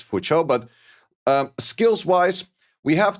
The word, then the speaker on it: Fuqiu: I guess it is pronounced fucho. It's a Chinese name. And then this the like the kiwi is mostly as a cho kind of sound. So I think it's for cho.